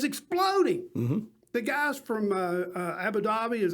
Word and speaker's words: Abu Dhabi: that's right it's exploding the guys from uh abu dhabi is how you say it abu dhabi abu dhabi is that that's about the same